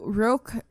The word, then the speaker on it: Roque: on the news clips that I watched, they pronounced it as Roque, so that's it.